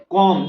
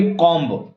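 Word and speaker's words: comb: हैं उसमें इसको बोलेंगे कॉम्ब। क्या बोल देंगे, कॉम्ब, बस वो गलत प्रोनाउंसिएशन होता है, कॉम्ब नहीं होता है, कॉम होता है।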